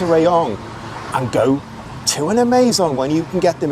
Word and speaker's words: Amazon: Before we go any further, I'm just going to say Amazon is how it's pronounced in Thailand. So I'm going to get you used to that if you're not in Thailand, because if you ask for the Amazon, people are going to have no idea what you're talking about.